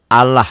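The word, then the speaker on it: الله: A'udzu bi lafaz Allah ini dibacanya tipis. Bunyi A ya, jangan bunyi O tapi bunyi A. Allah, bismillah ya, jangan bismillah.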